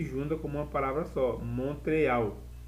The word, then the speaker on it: Montréal: Ficou em Montreal. Aqui um detalhe, que Montreal, em português é Montreal, em inglês, em francês, eu separo, é mon, palavra aqui sozinha, eu leio mon, e essa aqui, eu leio real.